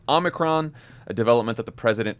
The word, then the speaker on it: Omicron: of millions of americans the president also mispronounced the name of the new variant multiple times it's called the omnicron omnicron the omnicron variant the face the omnichrome variant i hear you man